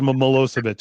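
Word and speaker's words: Milošević: It's spelled so different than it sounds, but it's Milosevic.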